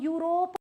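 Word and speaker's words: Europe: ही बोलना है इसलिए इ यू आर ओ पी ई ए एन को हम यूरोप बोलते हैं यूरोप और जब मैं यू बोल रही हूं तो ये साउंड लाइक यस यॉर्ट योगर्ट याम येल जो भी य से शब्द आते हैं वाई साउंड इज य इसीलिए यहां पे एन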